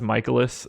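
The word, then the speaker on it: Mikolas: I could never remember to say it as michaelis so I ended up going to baseball-reference like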